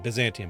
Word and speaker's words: Byzantium: So, Bzantium, I I think I'm pronouncing that right then. Byzantium, because it is Byzantine Bzantium.